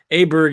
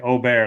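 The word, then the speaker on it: Åberg: lot of airtime and Aber Berg is the English pronunciation to me so o isly correct model Maniac on Twitter um just had like o bear like 10 times in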